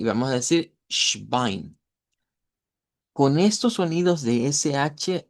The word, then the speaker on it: Schwein: El inglés, cuando las palabras comienzan con S, en la mayoría de casos se pronuncia como una E y una S, algo como es. Eso no se debe de hacer en idioma Deutsch. En idioma Deutsch directo vamos con esta SH. Schwein, Schwein.